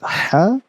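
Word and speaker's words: ح: So we have to make sure that ha and ha are differentiated. So ha is basically pronounced from the center of your throat. If you touch your throat, you would feel ha, ha.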